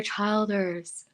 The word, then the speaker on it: Childers: kelly he is awesome great writer and keller childers that's how you say his name childers tyler